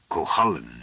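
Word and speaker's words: Gawaine: and tapped his teeth God Wayne I suppose he said out loud doubtfully it would have pronounced it kohalen in the North you can't tell with ancient languages then he put down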